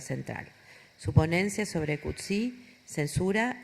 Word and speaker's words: Coetzee: Su ponencia es sobre Coetzee, censura y libertad de información.